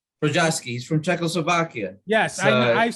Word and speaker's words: Jiri Prochazka: The headliner is Glover Teixeira against, I don't know, how do you pronounce this guy's name? Oh, Jiri Prochazka. Prochazka.